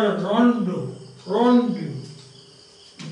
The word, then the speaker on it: rondeau: Rondeau. The pronunciation is rondeau.